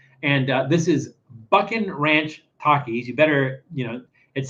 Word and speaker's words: Takis: and people say like is it Takis is it takus is is it you know how do you pronounce that I'm thinking it's Takis because it's like takitos they're like taquitos but they're little they're miniature takitos so that's why I think it's Takis and this is Bucking